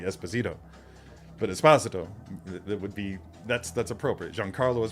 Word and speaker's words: Esposito: Because in Spanish, if I'm not mistaken, the second to last syllable of a surname is typically the one with the inflection, so it would be Esposito.